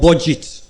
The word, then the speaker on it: BudgIT: It was by an organization called Budget. Budget is spelled BUDGIT.